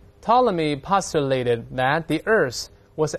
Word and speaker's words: Ptolemy: 发音的，不要读成 Ptolemy，他不这么读哦。P 不发音，大声来一遍 Ptolemy 就是托勒密这个人啊。